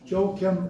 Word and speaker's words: Joachim: Joachim and Ann. It's the proper pronunciation.